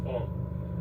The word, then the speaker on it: ol: It's ol. And in some dialects you just pronounce it o. We don't pronounce the L like in my dialect.